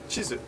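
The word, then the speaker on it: チーズ: pronounced right cheese right cheese and map is pronounced chisu so be careful kanji chard says Hani Dango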